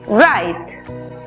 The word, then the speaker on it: right: En la palabra correcto, que se escribe, vemos que la GH es muda antes de T. La I toma su sonido abierto. Por lo tanto, la pronunciación es right.